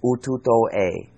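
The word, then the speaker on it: Ututo-E: It's called Ututo-A. It's developed in Argentina. And it's spelled U-T-U-T-O-E.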